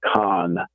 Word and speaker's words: CON: certificate of need and the first three letters of those three words for your listeners is pronounced Khan it is a con on the people of